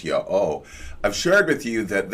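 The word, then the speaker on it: YHWH: High gives of himself, which of course I pronounce Yah-O.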